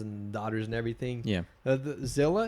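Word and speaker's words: Zillah: daughters and everything yeah Zilla is actually in the Bible Zill spelled but it's spelled z i l l a h uhhuh Zilla I think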